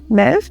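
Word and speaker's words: Möwe: It's a German word. It means seagull. The pronunciation is kind of like, Mev?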